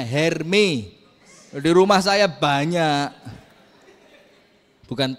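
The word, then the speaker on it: Hermès: mahal itu loh apa hermos di sini-si gak gitu bacanya hermi di rumah saya banyak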